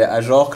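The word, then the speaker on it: Ajorque: Voilà, pour parler d'autres joueurs, tu as aussi des Ajorc, parce que je sais pas pourquoi je le prononce toujours Ajorc, mais Ajorc, Lala, qui sont des bons joueurs de Ligue 1 qui vont pas dans des plus gros clubs.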